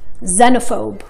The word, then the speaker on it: xenophobe: ولكن عادة حرف الإكس بأول الكلمة بننطقه كز xenophobe.